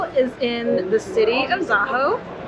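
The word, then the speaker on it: Zakho: Crystal is in the city of Zaho. I would have pronounced that Zaho yesterday, but I've been educated.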